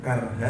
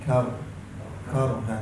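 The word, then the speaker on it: كرها: Cara bacanya bukan karha tapi karha, tebalkan, angkat karha. Karha.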